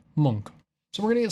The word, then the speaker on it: Munch: right, and turns out it's not Munch like everybody says, it's Munch.